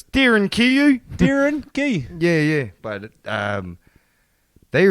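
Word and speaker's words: Derinkuyu: Yeah, to be honest, it's Darin Kayu.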